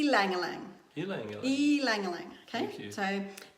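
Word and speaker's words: ylang-ylang: okay okay yelling Lang alright and the proper pronunciation is e ylang ylang ylang ylang ylang okay so ii Langille eggs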